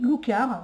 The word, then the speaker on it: Loucar: Oui, Loucar. Je ne veux pas le prononcer à l'anglaise, hein, c'est Loucar.